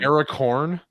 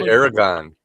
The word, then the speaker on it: Aragorn: saying Aracorn? It's driving me I know what I'm insane. saying. Talking It's about. pronounced Aragon.